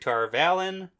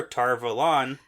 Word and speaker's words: Tar Valon: Yeah, Aes Sedai-centric, Tar Valon. Yep. Or Tar Valon. It depends on how you say it. Yep. Depends on your accent in the show, I guess.